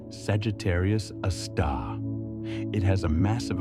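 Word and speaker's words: Sagittarius A*: It's called Sagittarius, a star, pronounced Sagittarius, a star.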